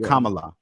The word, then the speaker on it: Kamala: pronounce her name again like comma l-u-h like kamala all right all right